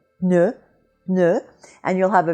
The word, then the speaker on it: pneu: So when you say pneu, close your lips for the P and say the ne right away. Pneu, pneu, and you'll have a very good French P sound.